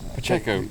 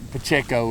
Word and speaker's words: Pacheco: Pacheco. Pacheco, there you go.